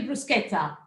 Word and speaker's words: bruschetta: going to show you the bruschetta yeah because that's the way to say it right yes there are well